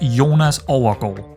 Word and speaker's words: Jonas Overgaard: 17-year-old Jonas Overgaard. Yes, that's how you say it in Danish.